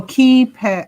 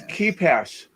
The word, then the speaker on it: KeePass: okay it's popular so it says what oh keypad oh it's keepass that's how you pronounce it i know what it spells but